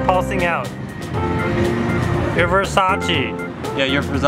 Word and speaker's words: Versace: Versace. Sure you're saying it right? Versace? Versace?